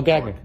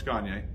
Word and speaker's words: Gagne: Oh, Gagne. No, it's Gagne. Oh, Gagne, okay. That's why I asked. All right. Cool. If you can't pronounce it that way, think of Kanye by Gagne.